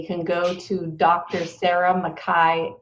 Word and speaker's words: McKay: about you they can go to dr sarah makai m c k a y dot com slash toolkit have i said that